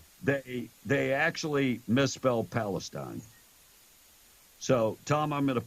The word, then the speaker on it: Palestine: and you know that there's a town in Texas called Palestine right no it's Palestine anyone who lives there will tell you it's Palestine so spell it sound